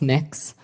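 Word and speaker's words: Mx: It's pronounced mix.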